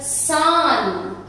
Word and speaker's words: Zahn: Der Zahn, der Zahn. Now this is pronounced as S.